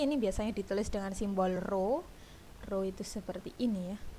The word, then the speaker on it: rho: Seperti ini ya, rho, dibacanya rho.